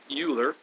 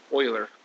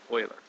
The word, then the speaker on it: Euler: it's it's not oer uler it's more like Oiler like the hockey team you know Oiler that's that's sort of